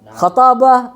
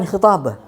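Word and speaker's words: خطابة: Burhan, jadal, khatabah atau Husain ingat ini al-khatabah, bukan khitabah. Aku sering banyak lihat di buku-buku mantik yang bahasa Latin dia menulis khitabah.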